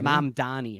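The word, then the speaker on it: Mamdani: Mom Donnie. Mom Donnie, right? That's how you say it.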